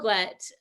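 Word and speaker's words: Huelgoat: an environment but well gwet um which is spelled like h-u-e-l-g-o-a-t it's it's it's like a breton word um was again one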